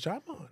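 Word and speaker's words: Djimon: Oh, he's Jaimon. Yeah. You don't pronounce the D.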